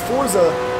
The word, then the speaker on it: Forza: sh is there anybody that still says Forza with me or you all just say Forza now because that is the proper way to say it out